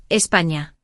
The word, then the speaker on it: España: Intenta decir España con ñ, España.